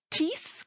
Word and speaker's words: Thies: Wie schreibt man die Namen? Thies Köster.